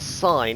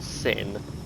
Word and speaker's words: sin: No, it's Sign, isn't it? It's pronounced Sign, not Sin.